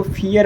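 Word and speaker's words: vier: हल्का सा ट का उच्चारण होगा। ठीक है? थ्री को ड्राई बोला जाता है। फोर को फियर बोला जाता है।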